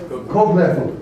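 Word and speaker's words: Kochleffel: It's pronounced Kofleffel? Kofleffel. Cook spoon. It means a cooking spoon. I know, but you can't hear it. It's called Koch. Kofleffel. You just gotta swallow that.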